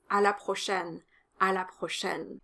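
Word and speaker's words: à la prochaine: see you next time the o is closed and the ai is an open a sound like in the word fair in english so it's a la prochaine a la prochaine it's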